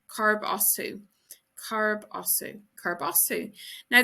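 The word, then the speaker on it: Cá as tú: Where are you from is Carb Osu. Carb Osu.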